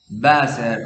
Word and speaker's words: Wasser: si no me equivoco, Wasser o Wasser. Me parece porque hasta donde yo sé la W en alemán se pronuncia como V en español.